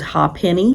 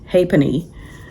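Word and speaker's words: Ha'penny: I thought it was Ha Penney cuz that's how it's spelled. H A with an accent space penny. But I looked it up and it's Hony Bridge over the river Liffey.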